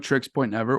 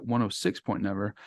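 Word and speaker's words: Oneohtrix Point Never: which is one of tricks point never or you can pronounce it 106 point never it's up to you he says you can pronounce it either way um I'll grab it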